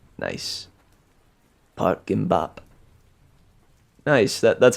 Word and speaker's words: Gimbap: Pronounced like bop. Nice. Park Gimbap.